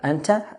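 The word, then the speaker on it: أنتَ: Anta, the ta having a fatha, means you.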